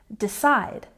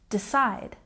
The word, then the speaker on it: decide: next we have decide with the stress on the second syllable decide decide so knowing where to